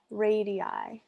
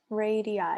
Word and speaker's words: radii: Radii. Radii. That's how you say it. When there's more than one radius, it's 2 radii.